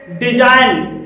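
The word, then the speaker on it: design: पर जी साइलेंट है डिजाइन डिजाइन में जी के बाद एन आया है और यहां पर भी जी साइलेंट है फिलेम फिलेम में जी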